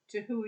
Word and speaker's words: Te Huia: from my home at 9 walker place to tihuya rail station how would you pronounce it properly to who yeah as I said don't listen to me